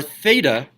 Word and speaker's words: theta: point of rotation our theta by the way this thing is called a fatalist right off to the side in case you don't know if this is Theta is pronounced theta with a th theta can we all